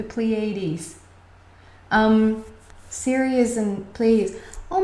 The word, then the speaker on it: Pleiades: i get the pl please ladies please that's how you say it in english the pleiades um serious and please